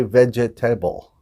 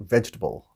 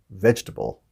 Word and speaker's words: vegetable: the same as comfortable we don't say vegetable we put it kind of squish it together there and we say vegetable vegetable so it should be my